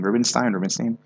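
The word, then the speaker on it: Rubinstein: How did she pronounce her name? Rubenstein.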